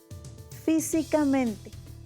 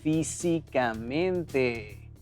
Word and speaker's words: físicamente: Físicamente. Físicamente. Físicamente es sobre esdrújula. Sí. Y lleva el acento en la primera letra. Fi, en fi. Fi, exacto. Porque su sílaba tónica es fi.